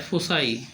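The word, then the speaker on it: foci: अगला शब्द है फोकस का मतलब होता है केंद्र बिंदु, और इसका बहुवचन होता है फोसाई। उच्चारण थोड़ा अलग है इसलिए लिख दिए हैं हमने, फोसाई।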